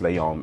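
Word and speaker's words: Léon: a little facts about Leon the professional actually firstly is actually pronounced Leon and not Leon because you know it's French but at the time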